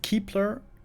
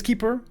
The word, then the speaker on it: Keeper: Back in the day, we also saw lots of Keepler. Damn, I mixed up the two words. Keepler is not the right way to say it. It is Keeper, or also much respected, the Kepler.